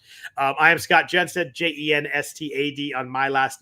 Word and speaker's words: Jenstad: spell sound like it spells but that's how it's spelled um i am scott jenn said j-e-n-s-t-a-d on my last name uh if you